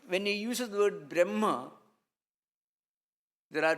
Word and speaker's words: Brahma: Brahma is the word Brahma, which is a long A vowel.